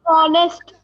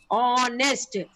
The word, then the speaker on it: honest: Ma'am, honest. Ma'am, vowel आ रहा है ma'am. Wall की sound है. Honest. Now children, here H is silent.